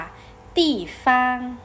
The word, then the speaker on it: 地方: เรียน ออก เสียง ตาม มา ช่วย ก่อน ค่ะ ตี ฟาง จะ ปี้ ฟาง อ่ะค่ะ ซึ่ง คำ นี้ แปล